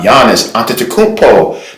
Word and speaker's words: Giannis Antetokounmpo: Giannis Antetokounmpo, the Greek Freaks version of Coming to America sneakers.